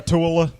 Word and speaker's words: Ratatouille: I knew how to pronounce it from the get-go because that's the exact same thing as the city of Versailles in France. Versailles. So, Ratatouille, Versailles. Ratatouille. Versailles. You don't pronounce the double L.